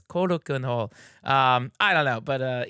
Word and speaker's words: Korakuen: My favorite place in the world, there's a venue called Korakuen Hall, but I always say Karakin Hall just because like I don't know, hey, I'm going down to Karakin Hall, but it's Korakuen Hall.